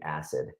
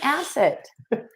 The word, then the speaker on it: asset: You were saying acid. No, I wasn't saying acid. I was saying asset. Anyways, I feel like I said exactly what Randy said. You were just putting the wrong emphasis on the wrong syllable.